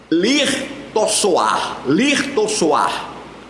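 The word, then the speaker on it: לרצוח: O segundo verbo é o termo que se lê lirtossoar, que significa assassinar.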